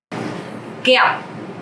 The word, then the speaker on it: Kẹo: Kẹo, candy. Kẹo. Okay, so this word have the tone mark dấu nặng. Because of that, you have to pronounce very strong.